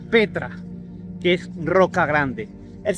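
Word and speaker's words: πέτρα: piedra es igual es la 4073 que se pronuncia Petra que es roca grande el señor Jesucristo le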